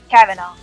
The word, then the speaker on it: Cavanaugh: Like, have I ever pronounced her last name wrong? I always... Kavanaugh.